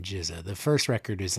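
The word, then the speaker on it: GZA: So this is Jizza, right? The genius. I think before this week I was pronouncing it Giza, so baby steps.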